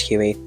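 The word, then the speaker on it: Huie: Apparently her surname is pronounced Huey.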